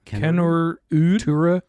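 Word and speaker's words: Kennerüd: Kennerud. Tura Kennerud? Tura Kennerud. The umlauts are only on... It's only on Kennerud.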